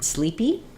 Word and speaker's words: sleepy: the word sleepy um so sleepy is first syllable stress both vowels say the e sound um and uh that's typical for words ending with the letter Y they have the e sound um so we'll see it like uh sleepy so basically you just take the word sleep and you add an e sleepy she needs to go